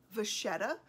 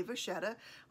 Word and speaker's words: Vachetta: Honestly, Vachetta and Vachetta are actually correct. Vachetta is how you would pronounce it if you were in Italy. Vachetta is how you would pronounce it if you were in France.